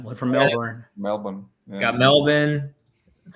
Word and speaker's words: Melbourne: you go one one from Melbourne Melbourne got Melbourne that's how you pronounce it right JC yeah good if you're